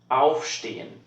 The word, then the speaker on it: Aufstehen: Aufstehen. This SCH-T sound is whenever you have a word that starts with those letters.